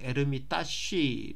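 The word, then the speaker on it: Эрмитаж: 있구요 에러 이따 50 에르미타쥐 하겠는데 얼어 시아 에 계신 분의 정확한 발음으로 음 지키면 에름 있다시 라고 꼬 생각하시면 될 것 같습니다 자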